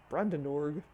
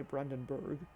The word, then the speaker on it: Brandenburg: Athens, Greece, the Acropos, Berlin, Germany, the Brandenburg, probably should say Brandenburg.